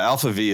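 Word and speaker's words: ALPHV: for those there yeah Alpha V is a l p v um so there's no a there so people call Alf V Alpha V I just think black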